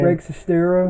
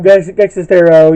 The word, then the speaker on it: Greg Sestero: He did a really funny review of it, and Greg, I can't pronounce his last name. Greg Sestero. Greg Sestero, yeah, who plays the character Mark, one of the main characters in the movie.